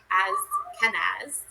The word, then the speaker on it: Kenaz: Kenza. Pronounce. Ken as Kenaz.